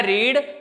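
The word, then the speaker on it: read: बोला जरूर ऐसे जाता है, रीड रेड रेड, ठीक है, लेकिन स्पेलिंग यही होती है, उसमें कोई चेंज नहीं होता है।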